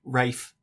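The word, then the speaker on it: Ralph: Yeah, as it's spelt, R-A-L-P-H, Rafe.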